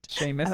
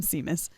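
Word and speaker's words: Seamus: do you say his name I was not pronouncing that right Sheamus then again I was calling him CMAs no it says I'm half and half Sheamus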